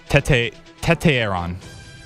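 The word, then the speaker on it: Tetairoa: Tete Aaron.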